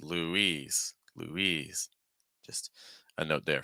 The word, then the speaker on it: Louise: And Louise. Louise. So the boy's name is Louis. The girl's name is Louise.